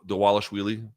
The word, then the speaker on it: Dvalishvili: for UFC 311 morab deales yes the V is pronounced like a w apparently I don't make these